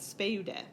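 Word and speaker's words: σπεῦδε: Same with speude. Last syllable short. There is no third to last syllable. Accent goes on the second to last syllable. It's long, circumflex, speude.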